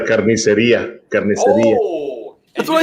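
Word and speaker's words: carnicería: A carniceria. Okay, we'll move on. Let's go. Carniceria.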